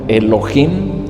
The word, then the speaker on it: Elohim: Y estando Dios como Elohim, usted lo va a encontrar en la Biblia, Elohim, e L o H muda y latina M.